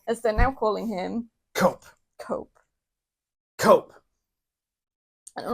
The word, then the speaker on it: Cope: This is Jon Moxley versus Adam Copeland, or as they're now calling him, Cope. I don't like it. It's a single syllable, like edge.